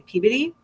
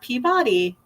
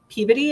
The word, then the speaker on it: Peabody: So we had to say Peabody, not Peabody. Peabody is how you pronounce it out there, which was fine.